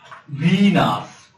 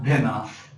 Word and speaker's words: Venus: one is really Mars Venus not Venice its venus is the second planet